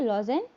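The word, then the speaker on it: Lausanne: कहीं कहीं पर लुसाने लिखा रहता है, बट जो इसका करेक्ट प्रोनाउंसिएशन है वह है लॉजेन। ठीक है, और यह स्विट्जरलैंड में अभी स्थित है।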